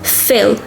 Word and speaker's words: fill: English a sound you need to keep some air into your mouth and keep your tongue floating not touching the upper or the lower part of your mouth so fill fill fill in or